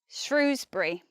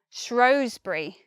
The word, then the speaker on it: Shrewsbury: word you'd think yeah that place is Shrewsbury Shrewsbury with the long ooh the eval Shrewsbury but actually many people say Shrewsbury Oh Shrewsbury throws burry and this place name I believe the distinction about which one's correct has something to do with whether you're whether you're posh if you're posh supposedly you say Shrewsbury I live in Shrewsbury